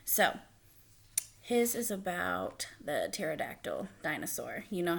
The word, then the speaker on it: pterodactyl: couldn't you hear the pterodactyl go to the bathroom because the P is silent get it um so